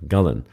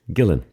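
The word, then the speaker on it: Gullane: you're in the small town of gullen or some people would pronounce it Gillan it's a lovely small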